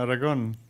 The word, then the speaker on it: Aragon: Yeah, Aragon.